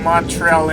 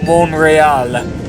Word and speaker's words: Montreal: you heard that yeah we have been pronouncing Montreal incorrectly for a long long time already the actual pronunciation is monreal if you're French or French Canadian anyways just